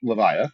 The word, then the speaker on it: Levia: tommy was playing live levia that is the proper way to pronounce it i found out uh avaya leviatha yeah like leviathan yeah um but that's